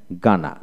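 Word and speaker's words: Ghana: সি এর উচ্চারণ, জি এস থাকলে জি এর উচ্চারণ এটা হয়। যেমন জি এইচ এ এন এ গানা, গানা অর্থাৎ জি এ এন গানা, গানাইন, গানাইন এখানে এইচ উচ্চারণ হলো না।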